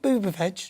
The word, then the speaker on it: Buttigieg: Who's this Buttigieg guy? What a name. Is that his name? Did you say Keith or Pete Buttigieg?